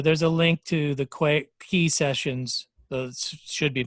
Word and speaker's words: Quay: So there's a link to the Quay sessions. Those should be pronounced Quay.